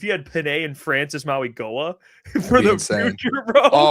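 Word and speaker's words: Mauigoa: Francis Maui Goa.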